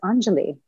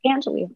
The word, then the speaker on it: Anjali: pronounce my name so it's anjali not angeli anjali yes that's how i